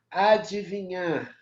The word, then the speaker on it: adivinhar: Adivinhar, né? Ó, adivinhar tem o i, adivinhar, não é mudo, tá? O d.